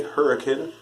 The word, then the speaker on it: Hurricane: of hurricane Utah yeah it's spelled like hurricane but people around these parts say hurricane I don't know if